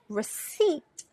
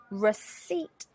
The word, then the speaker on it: receipt: receipt receipt but recipe recipe three syllables receipt receipt - two syllables so those are what